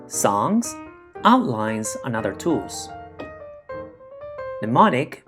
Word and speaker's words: mnemonic: poems acronyms images songs outlines and other tools mnemonic pronounced mnemonic is derived from the greek phrase meaning to